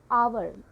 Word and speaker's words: hour: So we are writing an because it starts with a vowel sound.